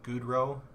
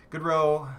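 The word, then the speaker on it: Goodrow: goals goals Gaudreau good Goudreau i want to pronounce it like Boudreau like Johnny Gaudreau but good ro has one and then Hertel has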